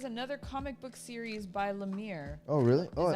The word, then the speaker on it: Lemire: Gideon Falls is another comic book series by Lemire. Oh, really? Is that how you say his name? Oh, yeah, Jeff Lemire.